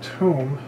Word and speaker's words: tomb: tiny little details inside this tomb which rhymes with womb um inside this tomb